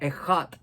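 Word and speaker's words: אחד: escribió también Deuteronomio el la palabra eat que se escribe esat pero se pronuncia eat en en hebreo y y este eat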